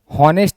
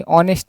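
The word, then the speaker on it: honest: हॉनेस्ट नहीं बोलेंगे, ऑनेस्ट man. Okay. तो एच साइलेंट है, ओ तो बोल रहा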